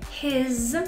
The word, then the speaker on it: his: His, la S, a pesar de estar así escrito con S, his se pronuncia como una Z.